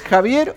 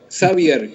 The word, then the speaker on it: Xavier: si lo puedo aprender es javier o xavier ver ahora te escucho un poquito mejor xavier con x saber de qué origen